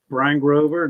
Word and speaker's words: Bryn Grover: having me pleasure to see you again um Brian Grover that's the name I know it looks weird